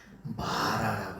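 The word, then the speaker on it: מָרָה: 마라라고 써요. 마라. 이렇게 마라. 마라. 요걸 이렇게 쓰고서 마라라고 읽어요.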